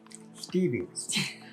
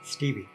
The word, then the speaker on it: Stevvi: little mini skeleton but we would call her stevie and we're going to spell it you don't even know this yet we're going to spell it s-t-e-b-v-i stevie stevie it's stevie stevie i've been spelling it wrong